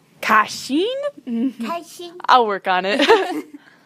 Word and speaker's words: 开心: Did I say it right? No, it's 开心. Kashin?